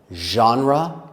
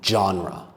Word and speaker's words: genre: There are two ways to say that word, genre and genre. I will say genre but they are both okay.